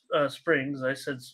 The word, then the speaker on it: Springs: Springs. Did I say Springer? But no, you said Springs. I said it right.